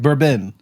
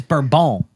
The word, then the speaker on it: bourbon: It's bourbon. No, it's not. Yes, it's burbone. It's bourbon. Burbone.